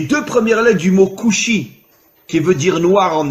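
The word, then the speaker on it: כושי: En hébreu, le mot noir se dit kushi. Alors bien sûr, vous ne connaissez pas l'hébreu, mais faites-moi confiance. Le mot kushi s'écrit en hébreu kaf vav shin yud.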